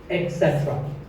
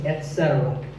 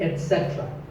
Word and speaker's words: etc.: A very common incorrect pronunciation is to say etc. instead of et. Don't say that. And also remember that the stress is on se. So the word is etc. You will also hear etc. That is less common, but it's okay too.